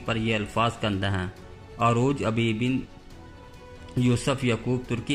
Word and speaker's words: عروج: کا نام رکھا گیا۔ ترک عروج کا صحیح تلفظ نہیں کر سکتے، وہ اسے عروج بولتے ہیں۔ عروج اور خیر الدین